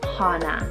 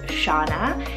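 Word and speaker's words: Chana: I think it's so stunning, and it's the name Shauna or Hana, spelled C-H-A-N-A. Depends on where you are in the world, but the more common pronunciation is Shauna, and this gorgeous name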